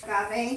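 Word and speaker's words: agave: it here it is goave how do you pronounce it that's aave yeah aave okay I pronounce I'm always pronouncing it wrong and getting in trouble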